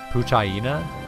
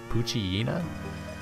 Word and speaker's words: Poochyena: another Poochyena Poochyena I've always been kind of confused by the pronunciation of that cuz I've always said Poochyena but I later realized that it was like a hyena it was like a play on hyena so like is it